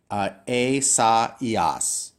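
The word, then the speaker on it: Ἠσαΐας: And remember that because you have these 2 dots, that means you have to pronounce the vowels separately. So this is a, sa, ias.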